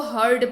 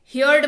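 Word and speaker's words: heard: आपके सुविधा के लिए मैंने उच्चारण लिख रखा है, इसको हर्ड पढ़ते हैं, ठीक है। हियर्ड मत पढ़ लीजिएगा इसको।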